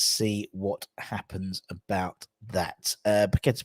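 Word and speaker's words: Paquetá: Paqueta's pronunciation determined by rhythms. What rhythms is with car? Rhymes with car, exactly.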